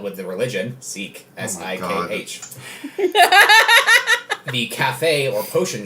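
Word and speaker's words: Sikh: Seek spelled with the religion. Seek.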